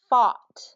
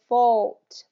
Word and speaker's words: fought: say them for me get a little bit more drop of the jaw for fought fought F yep so say the two for me so because what I'm hearing is fault fault and you're kind of you're not you're not opening your mouth and dropping your jaw a little bit more